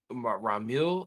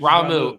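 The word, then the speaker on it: Ramuh: and uh the ramu I can't say his name right but ramu ramill ah ramu I think it's actually ramu yeah okay those are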